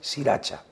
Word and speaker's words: Sriracha: Y es simplemente, cuando vais al supermercado, compráis sriracha. ¿La conocéis? No. Y tú coges la sriracha, como suena, se escribe, sí.